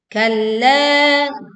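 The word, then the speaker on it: كَلَّا: Kalla, kita tekan lam bertasydid, lalu panjangkan la 4 sampai 5 harokat.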